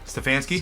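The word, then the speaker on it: Stefanski: the coach's name uh David how do you pronounce the coach's name for the for Cleveland stansky stansky do you give him coach of the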